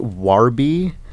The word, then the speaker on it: Warby: trial comm slash thumbs I always try and say it wore B so it's clear that it's spelled wrvr yeah because I've sometimes worried if I say war B it'll be like wor or they'll think it's like about war yeah it's we go